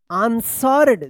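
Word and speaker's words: answered: आंसर्ड। देखिए यहां पे यहां से लेकर यहां तक जो है आंसर है। ए एन एस डब्ल्यू ई आर। यहां पे जो है ना डब्ल्यू साइलेंट रहेगा आंसर और इसमें इडी लगा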